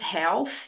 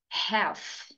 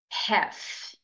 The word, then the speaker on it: half: Muita gente confunde, diz half, porque tem esse L aqui no meio, né? Mas, na verdade, a pronúncia correta é half, half.